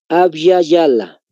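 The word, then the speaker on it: Abya Yala: les vuelvo a repetir Aby Yala Cómo se escribe Pues con y de yoyo en ambas tal como se escucha abala con y de yoyo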